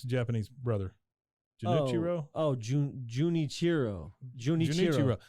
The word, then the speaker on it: Junichiro: horri how do you say his brother's name junichiro junichiro you did not spend entire vacation in